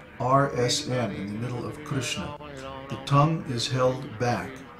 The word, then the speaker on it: Krishna: is there's no krishna there's no i sound in krishna and when pronouncing the rsm in the middle of krishna the tongue is held